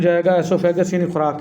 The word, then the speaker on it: esophagus: इसको ओसियोफेगस नहीं पढ़ना बेटा, एसोफेगस इसको पढ़ना है, ठीक है, जैसे मैं बोल रहा हूँ। स्पेलिंग आपने इसके अच्छे से याद रख लेने हैं, ESOPHAGUS, और पढ़ेंगे इसको एसोफेगस, ठीक है।